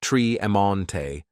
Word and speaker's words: Tremonte: named Fremonte, pronounced Free-Emonte, and Tremonte, pronounced Tree-Emonte, Jones.